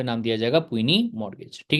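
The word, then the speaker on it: puisne: फिर इसके बाद में इसको इंपॉर्टेंट मार्क कर लीजिएगा, इसका प्रोनाउंसिएशन जो है वो बहुत ही अजीब लगता है। पुइनी, पुइनी, प्यूनी, प्यूनी मॉर्गेज।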